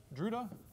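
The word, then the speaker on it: Drude: that model is called The Duda model it's pronounced druda I'm not sure why I'm sure it's related to um where he was from I'm sure someone will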